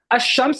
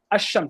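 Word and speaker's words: الشمس: Ash-Shams is, you pronounce it with the sh. Ash-Shams, you don't hear the alif lam.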